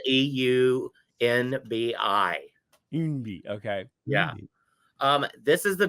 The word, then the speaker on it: Eunbi: Yeah, it's spelled EUNBI. Umbi, okay.